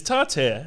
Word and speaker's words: tartare: tartare yes date tartare which or is it tatar it's tartare that's how it's spelt um but i i've